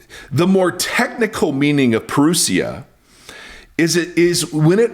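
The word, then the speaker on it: parousia: Now that word is a form of the word perusia or peruseia, but I like I think it's perusia. It's how you pronounce it.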